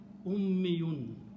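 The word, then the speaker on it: أُمِّيٌّ: Ummun, mother, okay, and few other words, okay, but ummi, pronounce it this way, ummi. If you pronounce this word this way, shadda and a ya, ummi, and always last letter should have it to the mas. So it will be ummiyun.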